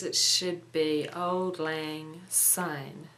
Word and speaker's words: Syne: Time in Scots design is pronounced like the English word sign not Zine as many people pronounce it so I guess it should be Old Lang sign not sign anyway I